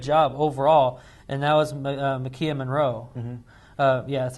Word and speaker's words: Maika Monroe: did a good job overall and that was McKeon Monroe yeah that's how you say her name she